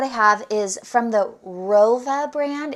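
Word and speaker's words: Wrova: But right here, what I have is from the Rova brand. It's W-R-O-V-A is how you spell it.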